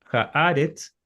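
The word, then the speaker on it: הָאָרֶץ: Pero si ustedes se fijan en esta palabra Haaretz, la última del Génesis 1.1, vemos que el acento está en la pretónica o la antepenúltima.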